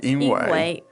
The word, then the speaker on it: 因为: 因为 Now, it's written like 因为, but it's pronounced in this case like 因为 yeah.